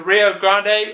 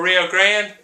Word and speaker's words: Rio Grande: Anytime you hear current events, the Rio Grande or Rio Grande, you can say it either way, is pronounced or is talked about when we're talking about Mexico and United States relationships.